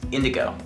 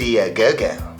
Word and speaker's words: IndiGo: Budget Airline for India believe it's pronounced Indigo ah get it I thought it was IND indogo Indigo Indo Indigo Indigo